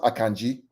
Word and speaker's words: Akanji: Just for you out there, it's pronounced Akanji, not Akanji, Akanji. It's a Nigerian name.